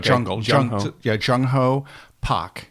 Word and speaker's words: Pak: with a hard J like jungle yeah jung-ho Pac Pac okay very good and Barrett Barrett yeah just